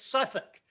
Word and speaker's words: Southwark: would call southwark southwark however if you pronounce it pronounce it the way the english do it's suffolk i can't tell you